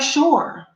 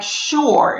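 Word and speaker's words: שׁוּר: to hear it and it sounds like sure in the english language this is hebrew this is english so the word enemy sounds like sure in the english language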